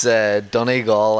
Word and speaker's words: Donegal: How do you pronounce the hometown? It's Donegal, Ireland.